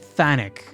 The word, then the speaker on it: chthonic: This says it's pronounced Thanic. Phonic. Why do you even have the CH there?